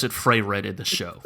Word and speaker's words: Frieren: No, because it is spelled I-E, not E-I.